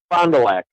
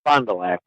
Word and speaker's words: Fond du Lac: Pretty much the Fond du Lac. Just the way you said it, Fond du Lac.